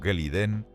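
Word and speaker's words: Glidden: Un granjero llamado Joseph Gliden, pronunciado Geliden, presenta una patente para un nuevo producto, alambre de púas moderno.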